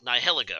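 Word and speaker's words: Nihilego: Because I can never pronounce this Pokemon, but it's Nihiligo, right?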